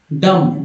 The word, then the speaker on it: dumb: लिखते हैं DUMB, डम, लोग डम भी पढ़ते हैं, डम, डम, डम पढ़ा, डम, डम्ब नहीं, डम, यहाँ तक होता है, यहाँ तक होता है।